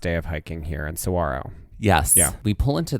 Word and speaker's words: Saguaro: park is known for, there is a G, but that G is silent. It's like a W. It's like a W. Saguaro is how it's pronounced.